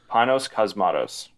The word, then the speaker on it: Panos Cosmatos: You need help me pronounce his name? Yeah. So Panos Cosmatos.